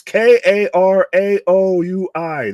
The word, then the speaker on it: Karaoui: It's Karaoui. That's a lot of vowels to have in succession.